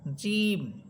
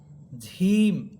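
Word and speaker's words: جيم: যেমন যা প্রথম হচ্ছে জা হরফ যা আর জিম হবে জিম। জিম্বার মধ্যখান উপরে তালুর সাথে লাগবে। জিম জিম। কিন্তু এটা উচ্চারণ করার সময় যেন হ এর উচ্চারণটা না আসে। ঝিম এমনটা হবে না বরং হবে জিম জিম এরপর হচ্ছে সিন এবং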